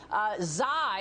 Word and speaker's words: Xi: greek letters x y zai is how it's pronounced but of course it's spelt the same way as xi jinping spells his name when naming the omicron